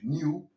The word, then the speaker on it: knew: I knew. Puedes decir knew o knew, dependiendo de cómo lo quieras pronunciar y de la región que te encuentres. Los neoyorquinos dicen knew por alguna razón.